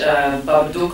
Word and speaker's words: Babadook: my head, and then in English, Babadook rhymes with book and look and all these words, and I thought, I like it.